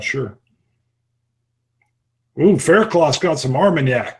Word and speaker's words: Armagnac: oon Faircloth got some Armagnac that's the first time I pronounced that correctly in like a month and a half that's usually our mug knock it's like some kind